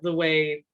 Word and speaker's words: Ngai: theorist I really like, C.N. Way, I believe is how you pronounce her last name, Ngai.